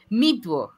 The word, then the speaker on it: MeTuo: MeTuo, ajá. MeTuo, así como suena.